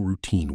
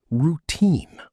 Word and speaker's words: routine: Let's work on some pronunciation for common morning routine words. Routine. Routine. Stress on the second syllable.